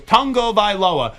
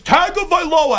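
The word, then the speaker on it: Tagovailoa: and I heard him I asked him how do you say your last name correctly he goes tongo vioa and I get so many messages it's not tongo vioa it's tag of VOA and I go you're wrong if they don't correct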